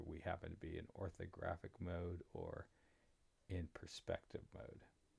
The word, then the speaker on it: orthographic: know why but um I pronounce it with an oror graphic but it's orthographic um and we are